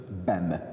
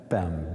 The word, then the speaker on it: Bem: Bem. Bem.